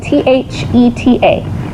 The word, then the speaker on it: theta: Theta is spelled T-H-E-T-A. Theta, not theta with a S. That's a cheese. This is theta, okay?